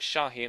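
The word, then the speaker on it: Şahin: bid for Nuri shahen I checked and it's pronounced shahin I did ask you guys or you did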